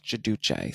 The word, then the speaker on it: Giudice: was Joe Giudice, and they're both Italian, so in Italian it's Giudice. So I go back and forth. So if you hear Giudice and Giudice, that's the same thing.